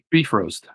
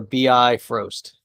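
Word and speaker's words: Bifrost: beef roast beef roast it's like you have a beef roasting in the oven that's the pronunciation is it a bit frost or a bi frost beef roast it's all it's the norse pronunciation of course somebody will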